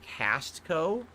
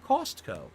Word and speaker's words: Costco: I noticed people in the chat joke about how you pronounce Costco as Castco. Oh, this has to be a detract. This has to be a LARPer. Don't give him money. I say Costco.